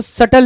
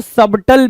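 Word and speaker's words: subtle: 34 की बात करें अगर, तो आप क्या देख रहे हो, सटल लिखा हुआ, कुछ लोग इसको सबटल भी पढ़ते हैं, ठीक है, कुछ लोग सटल पढ़ते हो।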